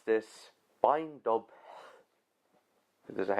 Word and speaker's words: Beinn Dubh: The thing is, those people are actually closest because the B isn't actually pronounced. So that may be the spelling, but the pronunciation is just Beinn Dubh. Beinn Dubh.